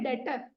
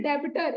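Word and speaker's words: debtor: कौन हो गया डेटर अच्छा बी साइलेंट है बहुत लोग इसको बोलते हैं डेबिटर इट्स नॉट डेबिटर इट्स डेटर डेटर कब कहलाएगा जब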